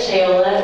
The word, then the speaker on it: Shayola: My name is Shayola, it rhymes with Crayola.